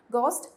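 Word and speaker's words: ghost: है गोस्ट story okay गोस्ट में एच जो है वो साइलेंट रहता है उसको हम नहीं प्रोनाउंस करते गोस्ट स्टोरी ये आप इजली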